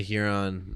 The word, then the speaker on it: Huron: yeah the town of urine South Dakota see you're with me on that too because I've always said the only thing that here on rhymes with is you're right I've been to Huron uh that seems to